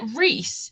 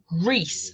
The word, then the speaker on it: Rhys: However, eventually, like, I trained my brain to say Rhysand, and that it makes more sense with Rhys for short. Yeah, Rhys is R-H-Y-S, and it's Rhys.